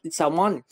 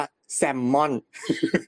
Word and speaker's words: salmon: แรก เลย ครับ เอ่อ คน ไทย ออก เสียง มัน ผิด ครับ เรา ไม่ เป็น ไร ครับ เรา คิด ถึง เรื่อง เดียว กัน เพราะ ฉนั้น เรา ม่อน ถูก แล้ว ครับ ม่อน ได้ ครับ มัน ออก เสียง ว่า เดี๋ยว เอา นี้ ก่อน นะ มัน ออก เสียง ว่า แซมมอน อัน นี้ ซีเรียส มาก